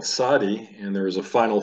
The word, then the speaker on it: Tzade: Consonant number 18 of 22 is pronounced Tzade. You can try saying that with me. Tzade. Tzade is pronounced like the TS in the word nuts.